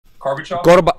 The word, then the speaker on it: Gorbachev: Can you pronounce his name again? Gorbachev.